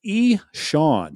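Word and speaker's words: Ixan: Kyle Reese reached out to us and told us how stupid we are, and his name is pronounced E-Sean. Yeah. E-Sean.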